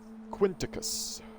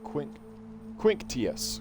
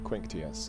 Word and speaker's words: Quinctius: So, you're Quinticus. No, Quinctius. Quinctius. That's how you pronounce that.